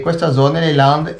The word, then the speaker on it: Landes: Ma questo, com'è che si dice, com'è che si pronuncia Landes, questa regione? Le Landes, perché io già avevo fatto Landes.